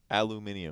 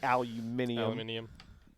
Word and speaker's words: aluminum: say both yeah probably how do you say aluminum aluminum it is oh my god no you are from America you do not say aluminium do you say aluminium I say oh my it's not even how it's spelled huh do you actually